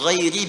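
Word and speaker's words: غيرِ: Qara'al jumhuru ghairi bil jar. Mayoritas ahli qiraat membacanya menggunakan kasrah, ghairi i.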